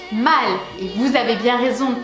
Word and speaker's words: Mal: Restons sur le personnage de Marion Cotillard, Maud, qui en français se prononce mal.